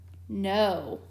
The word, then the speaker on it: know: And whenever you come across KN together in a word, the K is silent. So these two letters work together to make the N sound, just like in the word know, like I know the answer.